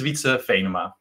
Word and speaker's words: Wietse Venema: me my name is vitsa feynma and for the international listeners my name is pronounced like this we like we go to the park i'm a software engineer